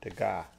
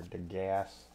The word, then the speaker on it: Degas: So this is Edgar Degas. Or Degas. If you're really bad at pronouncing things.